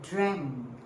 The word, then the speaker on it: dreamt: Yesterday I dreamt. See my pronunciation? Dreamt. You can see ED sometimes. Dream ED. Not so common. We commonly or normally put a T there.